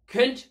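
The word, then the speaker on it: könnt: இய கென்ட் ஃப்ராகன், கொண்ட் ஃப்ராகன் அல்ல, கென்ட் ஃப்ராகன். உம்லவுட் வருகின்றது. பாருங்கள், கவனமாக பார்த்துக் கொள்ளுங்கள். இந்த உம்லவுட் கே என்கின்ற ஒரு உச்சரிப்பை உருவாக்குகின்றது. கோ அல்ல, கே, உதட்டை குவித்து சொல்ல வேண்டும். கென்ட் என்ற உச்சரிப்பை உருவாக்குகின்றது.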